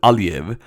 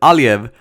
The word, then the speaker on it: Aliyev: president of Azerbaijan, President Aliyev, make it sound Russian. He's a Russian, like Vladimir Putin. Anyway, President Aliyev, that's how you pronounce it, was giving an interview, and he kind of lost it.